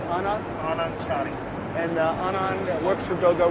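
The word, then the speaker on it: Anand Chari: How do I pronounce it? It's Anand? Anand Chani.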